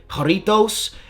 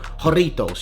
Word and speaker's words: Jarritos: but I was informed you do of course pronounce the h instead of a j so that J is silent corritos and then roll your r's when you speak it so joritos you gotta roll your a little bit not too much but a little bit in Spanish so hey let me